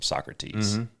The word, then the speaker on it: Socrates: some reading from like Aristotle and so crates and all those I know it's Socrates Socrates yes but but I